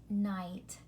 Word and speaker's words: night: one is called bright night notice the silent G H letter pair in both bright and night you're going to see